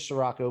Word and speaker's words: Ciorrocco: i say superhero because my last name is siraco most people can't pronounce it my friend started calling me